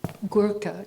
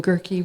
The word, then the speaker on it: Gurka: I'm Gurka, is the way to pronounce it. If you're really in the United States, it became Gurki rhymed with Turkey, Donald.